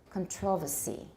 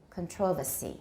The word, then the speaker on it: controversy: one the next one in british english is still usually pronounced controversy controversy in british and that's what i hear on the bbc it's what i hear from my teacher controversy and in american we say no controversy because jerome is working on british